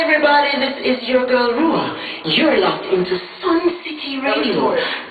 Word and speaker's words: Ruach: The CH is silent. Have fun, guys. But just call me Ruach.